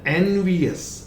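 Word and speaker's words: envious: Then एनवियस, नॉट एनवियस, नो यस. इसको फिर मैं लिख दूं, कभी भी इसको यस नहीं बोलेंगे, ये अस है, और यहां पर ई का प्रोनाउंसिएशन यानी इस आई का प्रोनाउंसिएशन ई होगा.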